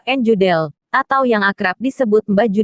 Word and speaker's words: Judel: asal usul Kyai deudeul nama asli Kyai jodelle pengucapan Jawa njundal atau yang akrab disebut